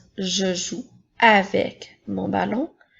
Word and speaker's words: avec: Maintenant, nous avons le mot « avec ». Comme dans les phrases « je joue avec mon ballon »,« ma sœur marche avec le